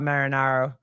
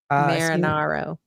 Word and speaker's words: Marinaro: Senior playing the part of the I just have to keep saying his last name so I say it correctly. Bob Marinaro. Marinaro. Yeah, right. Yeah. Yeah. Sounds Senior. right. Yeah, I said it wrong for like a year.